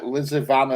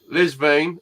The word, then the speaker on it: Lisvane: Liz, I'm not pronouncing this right. Lizavan and Lanniston reservoirs. Lisvane and Lanishon.